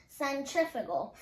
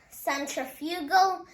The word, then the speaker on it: centrifugal: g a l now there are actually two pronunciations of centrifugal there's centrifugal and centrifugal and you can say whichever one you want just make sure you're pronouncing it right now the next one